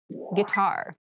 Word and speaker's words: guitar: casual clothing casual clothing guitar guitar guar this word has kind of an interesting spelling it starts with GUI but we pronounce this as G so a guitar is